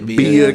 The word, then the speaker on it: Bia: Is that Bia or B-I? I didn't get it. Don't know how to pronounce it. It's Bia.